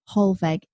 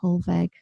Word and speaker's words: Hollweg: My Facebook is just Hollweg, but it's a W, pronounced like a V.